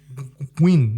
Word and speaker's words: Nguyen: Nguyen, like Gwyn. Nguyen Plenty. Yeah, that sounds right. Nguyen Plenty.